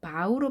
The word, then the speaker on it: bow: 물론 bow가 바우로 발음을 하게 되면 다르게 발음을 하게 되면 절하다라는 의미가 됩니다. 우리가 차렷 경례 할 때 attention, bow 할 때 이 표현을 씁니다.